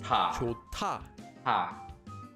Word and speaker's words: 좋다: There's a hyut at the bottom of the first syllable, and it's followed by a tigut. So the digut changes into a tiut. This becomes pronounced as 좋다.